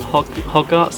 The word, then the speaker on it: Hodgett's: i'm set up on hog arts the lake i think you pronounce it it's the newest lake